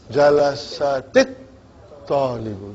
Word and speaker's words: جلست الطالب: in order to pronounce it, I make a little surgery and I give it a kasra. Now how will you pronounce it? Jalasatit talibu. Jalasatit talibu.